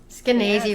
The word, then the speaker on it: Skenazy: We are absolutely thrilled today to be joined uh by uh Lenor Skynazi rhymes with crazy.